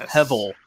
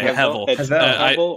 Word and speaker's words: Hevel: It's pronounced Hevel, right? Yeah, it's okay. Hevel. Hevel. Yeah. Okay, because people are saying Hevel, and I'm like, I'm pretty sure it's Hevel.